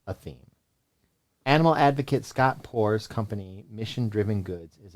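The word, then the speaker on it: Poore: minute you'll sense a theme animal advocate scott poor's company mission driven goods is a pet-centric venture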